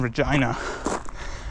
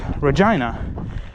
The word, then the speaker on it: Regina: regina, it is pronounced reginina. And I know I keep making this joke every 5 seconds if you guys have seen my older content, but reginina rhymes with vagina.